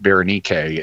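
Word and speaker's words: Βερενίκη: Berenike we bring into English as Bernice, but in Greek you pronounce it Berenike, and it was a common name.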